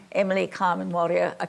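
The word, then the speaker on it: Emily Kame Kngwarreye: Well, anyway, it's just this woman that we're talking about, Emily Carmen Warrior, is that how you say her name? Yes. Emily Carmen Warrior is probably the greatest artist and most original artist that Australia has ever produced.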